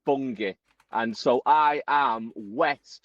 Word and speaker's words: Bungay: Now it's spelled B U N G- A Y. I said bongay. Someone very quick who uh corrected me. It's bungi.